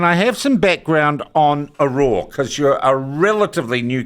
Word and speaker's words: Auror: have some background on aora cuz you're a relatively new company though I understand expanding fast yeah so uh it's pronounced Aura Aura Aura uh but